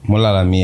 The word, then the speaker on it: Mulalami: Am I pronouncing it correctly? Mulalami. Mulalami, yeah. That's correct.